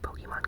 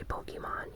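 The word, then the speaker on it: Pokémon: Moon, and it might be like the best-selling Pokemon games to date. And I say Pokemon even though I know the correct pronunciation is Pokemon.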